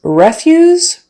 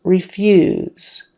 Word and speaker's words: refuse: is refuse versus refuse refuse is the noun meaning garbage or trash their refuse was not disposed of properly refuse stress on the first syllable and the vowel is short e versus refuse long e sound re fuse refuse I refuse to do this again refuse stress on the second syllable and the long